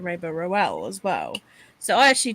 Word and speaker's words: Rowell: and they were like it rhymes with towels i was like okay